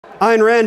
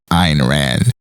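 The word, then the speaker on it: Ayn Rand: him so polite now iron Rand is thought to have based the architect in this novel on Frank lyd Wright Ken still pronounces it IR ran and Amy answered what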